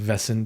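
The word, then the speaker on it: Wesen: It's pronounced vessin because the W sounds like a V in German.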